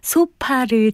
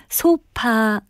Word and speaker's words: 소파: 같은 문구가 자주 보이죠 실제로 쇼파 라고 발음하는 분들이 상당히 많습니다 긴 안락의자 리 뜻하는 말은 영어로 쏘 파인 데요 이것을 우리 외래어 표기법으로 는 소파 라고 쓰고 발음도 역시 소파 라고 하게 돼 있습니다 또 잠 대박 같은